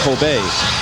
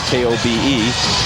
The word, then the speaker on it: Kobe: And there's a sort of steak that is popular in Japan, Coobe steak, Coobe beef. And eventually after they took the name from that, K O B E, people started pronouncing it Kobe. And that's what stuck.